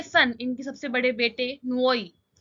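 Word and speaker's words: Nwoye: Next है इनके सन, इनके सबसे बड़े बेटे नुओई। वैसे तो एन से स्टार्ट होता है, but most of the times इसका प्रोनाउंसिएशन डिफरेंट रहता है।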